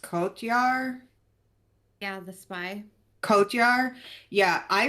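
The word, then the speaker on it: Cotyar: I really liked Ava Sarala, and is his name pronounced Kotyar?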